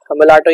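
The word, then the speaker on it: mulatto: बनती है जिसको हम मुलाटो कहते हैं। यहाँ पे ये जो वैरायटी है दिस इज मुलाटो, और मुलाटो या मिलेटो इसे प्रोनाउंस किया जाता है।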